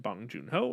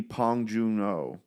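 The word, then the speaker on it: 봉준호: name wrong is it apparently the B is pronounced like a p really yeah it's Paul it's supposed to be pong Juno oh okay yeah is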